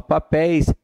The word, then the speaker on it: papéis: A sílaba tônica é a última, papéis, és na última.